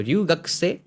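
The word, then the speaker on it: 留学生: और इसको ये छोटा वाला लिखा हुआ है तो इ हट गया। र्यू हो गया। र्यू एंड पीछे उ रह गया जो एक्सटेंड होगा। र्यू एंड देन गक से। सो रग से मीनिंग इंटरनेशनल स्टूडेंट फाइन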